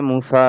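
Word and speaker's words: موسى: আলিফ খারা জবর আছে মুসা এরকম উচ্চারণটা তো মুসা কখনো মুসু মুস এরকম হয় না আর কি হ্যা মুসা নামটা মুসা এরকমই থাকে ইসমে মানকুস আলিফ আলিফে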